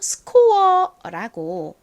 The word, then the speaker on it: score: 그래서 이 단어를 미국식 원어 발음으로 하실 때에는 score이라고 발음하시기보다 이 키읔 소리를 조금 세게 score 이렇게 발음을 해주시면 더 자연스럽습니다. 그리고 이 단어 한국식으로는 리을 받침 빼고 보통 score라고 표기합니다.